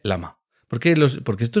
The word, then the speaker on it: LLaMA: Es que hay gente que dice llama y no se no se dice llama, se dice lama.